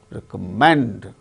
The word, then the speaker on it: recommend: Recommend, third syllable gains stress in the case of the word.